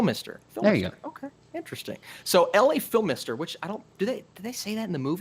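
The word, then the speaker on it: Phimister: okay interesting so le Phil mister which I don't do they do they say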